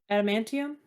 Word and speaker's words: adamantium: say that right an A man is it adamantium is that how you say it adamantium yeah that armor um she has a blade